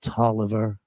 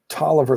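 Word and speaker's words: Taliaferro: how on cuth but it's that's why it's pronounced Toliver Tolliver that's right okay I'd forgotten that oh but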